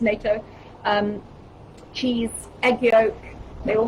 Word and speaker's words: natto: Sauerkraut, all fermented foods, sauerkraut, kimchi, natto or natto, I believe it's pronounced natto, cheese, egg yolk, they all have K2 in.